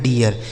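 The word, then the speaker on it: deer: जैसे डी से हो गया ड, इस डबल ई का उच्चारण ईया हो गया। उसके बाद आर से र लिखा गया डियर, इसे क्या पढ़ा जाएगा?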